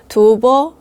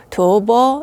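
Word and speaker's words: 吐蕃: 그냥 토번이라는 한자를 쓰거든요 중국어로는 두버 이렇게 발음이 됩니다 도버 이렇게 발음이 되니까 티베트하고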